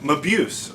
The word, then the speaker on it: Mabuse: How do I pronounce this? Muse. I had to check that. Mabuse. Okay, it's the return of Dr. Mabuse.